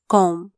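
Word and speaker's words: comb: ए R where कोनो सी ओ एम बी कॉम बी साइलेंटचा सी ओ एम बी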